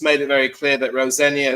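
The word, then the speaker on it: Rosenior: And um I think a lot of people have just made it very clear that Rosenia is how you pronounce it. There's no senior as such.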